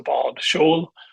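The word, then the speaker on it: bád seoil: so a simple example a sailboat is a is a bald show but if I say my sailboat it changes the pronunciation and the spelling of Bob to wag BH and if I say our sailboat it's yet another change to our mob show there are lots of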